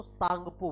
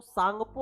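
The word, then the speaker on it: Tsangpo: तो इसको आपको याद रखना है कि इसको सांगपो बोला जाता है ना? अगर टी लिखा होगा तो टी साइलेंट हो जाता है ना? तो सांगपो आपको याद रखना है कि इसको क्या बोलेंगे? सांगपो बोलेंगे।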